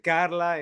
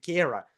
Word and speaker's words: Cara: Todos le dicen Carla en Latinoamérica porque es un nombre extraño, pero aquí en el sur de Estados Unidos le dicen Kara, se pronuncia así, pero como hasta a